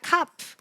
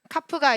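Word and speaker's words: כ: 네, 카프의 발음은 크입니다. 크. 근데 카프도 점이 있고 없고에 따라서 다르게 발음이 되는데 뭐야? 점이 있을 때는 크로 발음이 되고요. 점이 없을 때는 흐로 발음이 됩니다.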